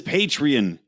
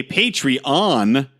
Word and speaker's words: Patreon: Go join and get all the goodness that is Patreon. Or as Mark would say, Patreon, because he always bitches me out for saying it wrong.